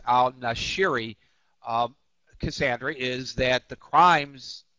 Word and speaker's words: al-Nashiri: and al-Nashiri, I wanted to make sure I pronounced his name right. It's al-Nashiri, Cassandra, is that the crimes, the location of the crimes.